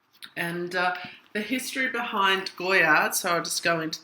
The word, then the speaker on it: Goyard: going to do my Goya collection which is pronounced uh Goya even though it's has a d on the